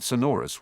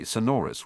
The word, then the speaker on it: Sonorus: So it's flick then touch the object or person to be amplified while saying Sonorus with the accent on the second syllable.